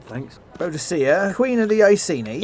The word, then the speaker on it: Boudicca: Boudicca, you... It's pronounced Boudicca.